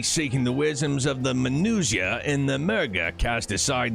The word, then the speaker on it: Manusia: In ancient times, the Is it pronounced Minutia? No, Manusia, not Minutia.